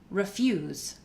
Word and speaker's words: refuse: So if we look at a word like refuse, then we know fuse is the stressed syllable, but there's a schwa in the front. So we get refuse, refuse. Same thing with decide.